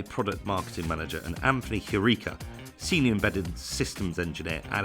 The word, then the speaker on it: Huereca: Marketing Manager, and Anthony Huereca. Did I say it right? Huereca. Oh, Huereca. Kind of right.